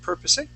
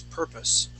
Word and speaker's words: purpose: is purpose okay um you had uh uh pronounced the word purposing okay adding an a sound for that e remember that e is going to be silent the word is purpose yep purpose great okay